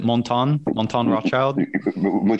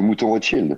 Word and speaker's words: Mouton Rothschild: How do you pronounce it? Montan Rothschild? Yeah. I mean, the famous Chateau Mouton Rothschild.